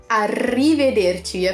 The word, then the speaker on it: arrivederci: we'll see each other arrivederci of to roll the R that's a weird sound in Italian arrivederci and then to